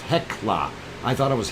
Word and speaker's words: Hekla: uh hell okay heckler okay that's what it's pronounced hekla i thought it was hell key but it's heckler volcano so that is this area over here